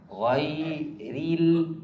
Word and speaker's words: غير: غير Ra-nya tipis, jangan tebal. مرقق. إتمام الحركات في الراء جر الفك إلى الأسفل. Pengucapan itmamul harakah kasroh yang benar ketika di kalimat ghairi.